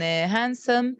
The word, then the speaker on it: handsome: between two consonants two when it comes between two consonants it's um it's uh silent like in sandwich like in handsome and likely yeah an